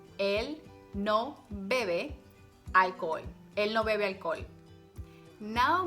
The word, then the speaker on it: alcohol: Remember, the H is silent. Él no bebe alcohol.